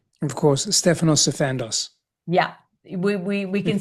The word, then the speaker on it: Stefanos Sifandos: Pronunciate your name for me. Of course, Stephanos Sandos.